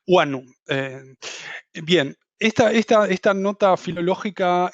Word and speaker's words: guano: guano critica el el la forma en que se pronuncia guano que todos lo conocemos como guano pero aclara que correctamente Debería ser Juano huano bien esta esta nota